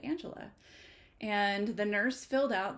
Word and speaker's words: Angelia: U but my name is actually much more simpler than that and it is Angela so the ey is silent um I am not